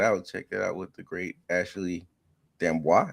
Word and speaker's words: Damois: with the great Ashley Damois. Am I pronouncing that correctly? Damos. Damos. Little little small s on the end of it.